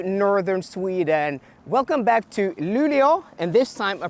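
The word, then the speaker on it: Luleå: welcome back to Northern Sweden welcome back to lulio and this time I pronounced it correctly because about a week ago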